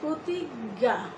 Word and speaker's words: প্রতিজ্ঞা: যেমন প্রতিজ্ঞা লিখতে গেলে এখানে বর্গীয় জ যুগ ইয় সংযুক্ত বর্ণটা রয়েছে, কিন্তু আমরা উচ্চারণ করছি প্রতিজ্ঞা, দুটো গ।